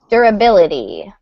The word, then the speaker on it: durability: The number one is durability. Durability. Durability. Yeah. Durability. Okay. Good. So stress falls on that syllable there. Durability.